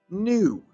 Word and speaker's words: gnu: animals such as this new look how it's spelled gnu the sun helps plants